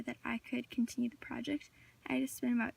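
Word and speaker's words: Projekt: form of project so here's the incorrect incorrect pronunciation if it looks project and then here's the correct pronunciation project so you can tell that there's a difference there between project and project you don't really pronounce Jay I also had a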